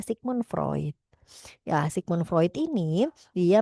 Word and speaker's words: Sigmund Freud: Kalau menurut aliran psikoanalisa gitu ya, aliran psikoanalisa ini di ee dikembangkan ya konsepnya ini dari Sigmund Freud ya, bacanya adalah Sigmon Freud ya.